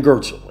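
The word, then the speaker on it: Goertzel: program consciousness in a computer program right ben gertzel it's like ben g-o-e-t-z-e-l is his last name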